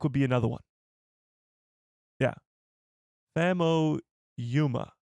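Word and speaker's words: Famuyiwa: Fam Yuma is how I've heard it pronounced. Fam Yuma.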